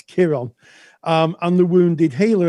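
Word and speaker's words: Chiron: K but it's pronounced it's spelled with a c sorry but it's pronounced with a K it's Kiron um and the wounded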